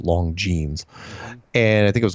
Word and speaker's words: Longines: So he goes on this show called The Longines Chronoscope, which is spelled Longines, but it's pronounced Longines.